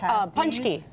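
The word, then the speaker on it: pączki: Oh, punchki. Ah, there it is. How do you pronounce it?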